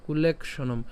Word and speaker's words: কুলেক্ষণম: তাহলে এখানের মধ্যে আমরা যেটা করব সেটা হচ্ছে কুলেখ পর্যন্ত উচ্চারণ করছি। হ্যাঁ, কুলেখ পর্যন্ত উচ্চারণ করলাম এবং মূর্ধন্য ষ যেটা আছে এই মূর্ধন্য ষর সাথে মূর্ধন্য ম উচ্চারণ করে নিলাম। তাহলে কি হবে? কুলেক্ষণম।